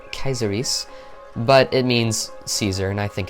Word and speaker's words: Caesar: truth Caesar caesaris now technically you could pronounce this as Kaiser kaiseries but it means Caesar and I think it's